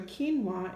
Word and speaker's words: quinoa: So instead of it being the qua sound like Q normally makes, it just makes the K sound in words like quinoa and quiche and keys and Cutter.